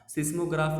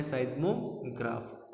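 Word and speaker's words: seismograph: सिस्मोग्राफ इसका pronunciation नहीं होता है, इसका प्रोनाउंसिएशन होता है साइज्मोग्राफ।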